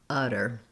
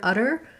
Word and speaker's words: utter: little bit longer uh utter then the two t's in the middle of the word utter are a flap sound so it sounds like a d um same actually pronunciation